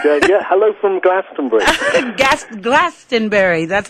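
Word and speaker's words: Glastonbury: hello from glastenbury Gast glastenbury that's how it's pronounced well that's it that's that's that's how you pronounce it if you live here oh okay well listen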